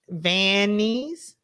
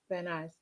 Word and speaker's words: Van Nuys: I'm like, she's still gonna mispronounce that, right? Go ahead. Let me hear you say yeah, it. you Vannies.